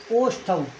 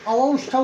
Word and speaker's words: ओष्ठौ: 5वां जो उच्चारण स्थान आपका है, 5वां उच्चारण स्थान है आपका ओष्ठौ। ओष्ठौ, इसको अवौष्ठौ भी बोलते हैं। अवौष्ठौ दोनों प्रकार से शुद्ध है।